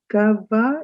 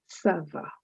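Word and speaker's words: ça va: lessons at the moment just remember whenever you see that little sign under the letter c understand that c is pronounced as sir and so this word is not kava it is server so sava means all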